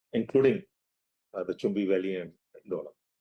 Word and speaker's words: Dolam: Dolam, it is not Doklam actually. Doklam is the term which was used by the media and caught on. It's Dolam, pronounced Dolam in Bhutanese.